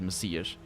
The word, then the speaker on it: Messias: That's how it's said in Portuguese. Messiah is the English word with an H at the end. But in Portuguese it is Messiah. It's read Messias.